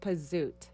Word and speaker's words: Pasut: It's like a Z, but it's pronounced Pasut. Pasut. Oh, okay. wow. Him and the Z's. Wow. It's Italian. Pasut.